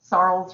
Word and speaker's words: Sarles: Sarles rhymes with Charles, Sarles, like that.